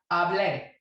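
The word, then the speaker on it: hablé: But to differentiate between the preterite and the subjunctive, you know that the preterite form has an accent on the E. So you say hable instead of the subjunctive where you say hable, okay?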